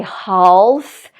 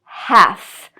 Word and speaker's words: half: like two halves and again no L pronounced at all so these are common